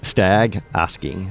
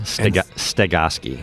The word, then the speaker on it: Stagoski: It's Stagoski. Stagoski. And spell it if people want to, because they can probably search you on the internet.